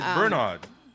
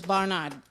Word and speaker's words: Barnard: so I you know his name how you said it Bernard no it's Barnard b e r b